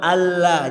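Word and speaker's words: أَلَّا: Nah, untuk yang yang syahadat pertama tulisannya itu anla dan sebaiknya di bacanya diidgam. Sebaiknya bacanya di idgham. Jadi nunnya tidak dibaca lagi, lebur masuk ke lam alla jadinya.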